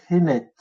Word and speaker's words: Henet: On a juste rajouté des E entre les consonnes pour le prononcer Henet.